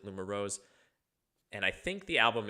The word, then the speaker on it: LUMUROZE: So the name of the group is uh Lumar Rose is how I'm going to pronounce it. Lum Rose.